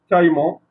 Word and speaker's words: caïman: Donc ici, on peut trouver le tréma sur des mots, sur la lettre I, d'accord? Prononcer I, bien sûr. Par exemple, ici, le mot caïd, caïman.